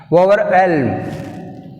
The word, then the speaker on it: overwhelm: Overwhelm. Overwhelm. Which is silent? H is silent.